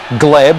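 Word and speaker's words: Hleb: Sasha Gleb, which is apparently how we pronounce it, and he plays some lovely balls with that left foot, doesn't he?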